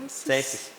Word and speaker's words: Cēsis: Cēsis.